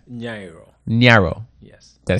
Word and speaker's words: Nyiaro: for me S nro Naro yes did I say it right most people will say nairo n but most people say nairo but it's Naro Niro yes Naro okay